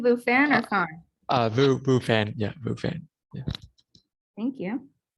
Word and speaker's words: Phan: Phan, yeah, Phan.